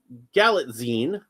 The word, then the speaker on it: Galitzine: Okay. So, Galatine, that's apparently how that's said.